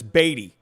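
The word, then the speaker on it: Beaty: matt matt beatty right it should be matt beatty it's e a that's a long e matt beatty but it's baity so huh reading is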